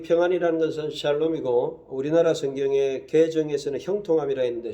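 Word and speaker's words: שלום: 우리가 서로 위해서 기도해주고 또 평안이 있도록 기도해야 되고 이 평안을 갖다가 히브리어로는 샬롬이라 그래요.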